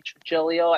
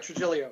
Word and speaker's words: Trigilio: So ladies and gentlemen, this is Trigilio. Am I pronouncing your name right, by the way? That's right, Trigilio, yeah.